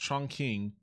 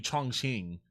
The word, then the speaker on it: Chongqing: I mispronounced Chongqing. I think it's actually Chongqing.